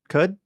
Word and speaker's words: Qud: See uh Caves of how do you pronounce this? Qud Quud Cud Caves of Cud.